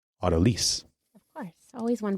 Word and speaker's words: autolyse: the pronunciation is that this term became coined by a French chef who would have said Autolyse, because that would be more of the French pronunciation, but that maybe perhaps more of the English pronunciation would be Autolyse.